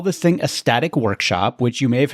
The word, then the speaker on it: STATIK: And I call this thing a static workshop, which you may have heard me talk about in other episodes. It's spelled STATIK, and it stands for the Systems Thinking Approach to Implementing Kanban.